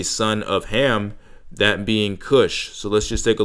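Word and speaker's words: Cush: top here we can see that the original pronunciation is Kush and then as we go down we see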